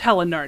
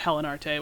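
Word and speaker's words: Haillenarte: I think it's Helenart, not Helenarte, which I was saying before.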